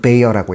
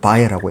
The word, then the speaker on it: Bayer: 영어로는 베이어라고 있고 독일어로는 바이어라고 읽는 것 같아요. 그러니까 베이어 바이어 뭐든 상관없어요.